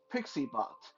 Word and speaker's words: PiccyBot: And the newest one that I just recently been playing with called PixieBot. That's spelled PICCYBOT, and it does the same thing.